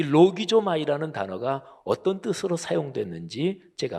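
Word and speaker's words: λογίζομαι: 그러니까 여길지어다 이렇게 번역된 헬라어 동사가 헬라어 발음을 하면 로기조마이 이렇게 발음하는데요, 이 단어는 긴가 민가, 사실인지 아닌지, 근데 일단은 그렇다고 치자, 이런 뜻이 전혀 조금도 없는 단어입니다.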